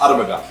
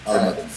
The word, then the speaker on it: Armageddon: to give us the meaning and the correct pronunciation, because we're still about to get it right, or wrong at least. It's Armageddon. Yes, Armageddon.